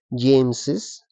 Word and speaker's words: James's: Pero eso no implica que no tienes que pronunciar Carlos's. Igual tienes que pronunciar Carlos's, James's, Lucas's.